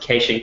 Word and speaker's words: caching: These Kiwis pronounce it caching. It's weird. I noticed that.